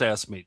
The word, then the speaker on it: AFSCME: No, but it's pronounced AFSCME, George.